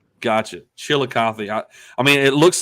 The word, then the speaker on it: Chillicothe: it is it chili coth or chile it's chillicothe chillicothe gotcha chillicothe i mean it looks like they have some